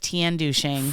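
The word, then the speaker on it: Tianducheng: It's like Tiandusheng. From, yes, that's how you say it.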